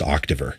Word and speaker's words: Octaver: It was like a bold choice, like a bold naming choice, because everybody's like, "How do you pronounce that?" It's like that's just Octaver.